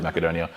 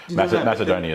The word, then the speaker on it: Macedonia: I'll I'll revert back to if I said macadonia Macedonia is in English you'd say it as Macedonia but macad you're saying it in the Greek